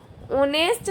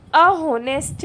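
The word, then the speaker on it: honest: ऑनेस्ट start with silent H. Sound is ऑनेस्ट, vowel sound N. तो यहाँ पे क्या आएगा? वॉवेल साउंड आया इसलिए एन का यूज़ करेंगे। अब इसकी ट्रिक्स क्या है? तो साइलेंट एच होगा, वहाँ पे क्या आएगा? एन आएगा। एन ऑनेस्ट, an hour. अहोनेस्ट नहीं होता, अऑनेस्ट नहीं होता, एन ऑनेस्ट होता है, ओके।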